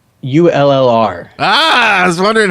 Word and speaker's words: Ullr: How do you pronounce ULLR? Ah, I was wondering how you're going to pull that one me off. too. Smart college boy. It's Ul. Ul. That's how say he Uller.